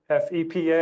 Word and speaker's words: FEPA: And what's the DOJ authoritative pronunciation? FEPA? F-E-P-A?